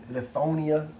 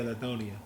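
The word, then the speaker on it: Lithonia: I don't want to butcher the city name. What's it? Lethonia, Georgia. Oh, yeah. Lethonia.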